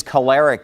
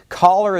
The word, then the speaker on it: choler: people referred to as being choleric someone who's choleric is a very angry person caller is a word that I actually learned I